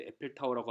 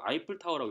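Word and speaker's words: Eiffel Tower: 때문에 이걸 또 이제 에펠타워라고 하면 또 이제 없어 보이고 해서 그런데 이거 원래 사실은 이거 아이플타워라고 읽는 겁니다.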